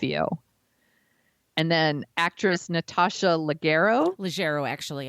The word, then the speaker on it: Leggero: And then actress Natasha Leggero, actually. I think it's a soft G.